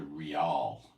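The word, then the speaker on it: rial: Europe they have something they call the real in English you spell it R i a l but that's a transliteration uh 777000 R equals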